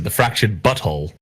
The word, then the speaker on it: The Fractured But Whole: the switch wait wait is that how you supposed to pronounce it the fractured but whole yeah should butthole oh yeah you say it